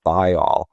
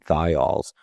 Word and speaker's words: thiol: smell skunky, which is a compound called a thiol. For people listening, that's spelled THIOL.